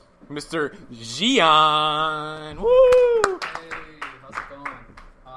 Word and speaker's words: Gian: welcome, a guy that, his name's pronounced like mine, but, his name's not spelled like mine, Mr. Gian.